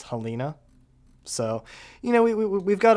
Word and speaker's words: Helena: Also, Helena is actually pronounced Helena.